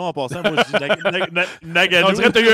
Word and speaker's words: Ngannou: Il est dur à prononcer son nom en passant. Moi, je dis Ngannou.